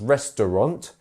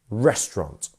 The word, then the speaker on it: restaurant: it should be pronounced restaurant, which some people do, but also some people break it down even further to restaurant. So here we have a first syllable stress, which is restaurant.